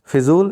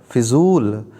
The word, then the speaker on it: फजूल: उच्चारण होगा फिटकिरी फिटकिरी फिजूल इसको एक बार लिख लेंगे या तो हो जाएगा फिजूल नहीं होता है फजूल होता है क्या होता है फजूल